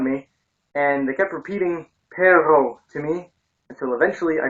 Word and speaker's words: perro: they kept laughing because I was trying to pronounce perro, which is dog. And instead, I kept saying perro, which is B-U-T, but, as in, but I couldn't roll my R's.